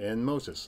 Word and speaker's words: Enmotus: Enmotus.